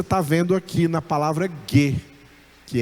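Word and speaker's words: γῆ: Então, a pronúncia dessa palavra, terra, terra em grego é ge.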